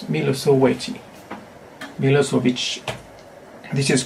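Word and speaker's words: Milošević: In English, some people may read or pronounce it as Milosevic, but in his Yugoslavian or Serbian language, it's Milosevic. So in Chinese also you need to keep this h. So Milosevic, not Milosevic. It's Milosevic.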